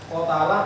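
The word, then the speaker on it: قَتَلَ: Qotalah menggoreknya. Nah, setelah kita cari kamus ternyata bacanya qotala lah.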